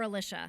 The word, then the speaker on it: Alicia: Do you pronounce it Alicia or Alicia?